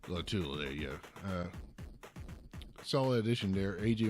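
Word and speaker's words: Lotulelei: Star Latulele. Latulele, yeah.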